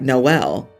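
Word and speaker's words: Jkmn: far was JK MN it's pronounced like Noel because they took the L out of that section of the alphabet so there's literally no l I'm impressed that someone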